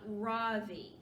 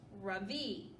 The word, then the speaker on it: Ravi: stands up really Street my name is not Ravi he says it's pronounced Ravi I'm not going to